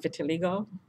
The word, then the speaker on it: vitiligo: that's white and depending the pigmented it's called vitiligo I think I pronounced that right vit i l IG oh